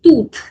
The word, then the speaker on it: toute: Now this is tooth. Tooth. We use this one with all feminine singular nouns. And T-O-U-T-E-S pronunciation is the same, tooth.